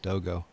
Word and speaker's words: Dogo: I just recently learned it's pronounced Dogo, which apparently is a type of dog. So, but he doesn't mind being called Doggo as well.